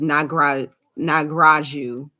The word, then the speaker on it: Nagraju: I don't want to say their name, but I don't want to say their first name, and the last name is spelled quite different, but the pronunciation is Nagraju.